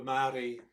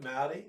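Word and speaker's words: Māori: So who are we as Australians through the lens of a Maori grandmother?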